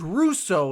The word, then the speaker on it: Rousseau: And with the group that they already had, and then that rookie, believe it's Russo is how you say his name.